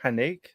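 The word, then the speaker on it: Haneke: all right um and it's directed by michael hennig is how you say it yeah yeah he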